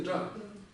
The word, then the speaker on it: དགྲ: Предписная что у нас делает? Не читается. Практически всегда не читается. Что? Повышает немножко. Да, тон повышает, да. Но сейчас мы говорим о том, что читается, но нет, не читается. И вот правильно здесь сказали, она повышает тон, то есть она влияет на то, как произносится следующий звук. И это у нас будет церебрально. То есть, соответственно, произнесение вот этого будет равно высокотонный джа.